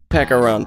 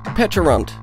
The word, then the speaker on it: Pecharunt: to Pokémon today I'm going to be catching peekar run recently I found out it's actually pronounced petun but I don't like that so I'm calling